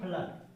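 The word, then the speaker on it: flood: अब फ्लड मतलब फ्लड लिखेंगे कैसे, आई से फ, आई से लो, डबल ओ का उच्चारण क्या है, आ के रूप में आ रहा है, तो आ के फ्लड ड।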